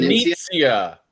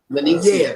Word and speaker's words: Venezia: Venetia. You got to say it like that, John Hill. said. Venezia. Venezia.